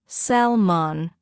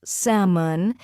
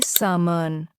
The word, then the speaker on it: salmon: Wrong, salmon. correct, salmon. The L is silent. Say salmon.